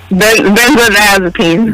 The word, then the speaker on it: Benzodiazepine: How you pronounce it? Benzodiazepine.